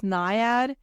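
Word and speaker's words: Nyad: watched the is Diane I think it's niad is how you pronounce her name it's a it's a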